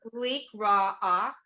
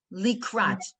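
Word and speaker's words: לקראת: leek ra'ach, kala. Wait. Likrat. Leek rock. Right. That's what I thought. Leek rock. Likrat. With a T on the end.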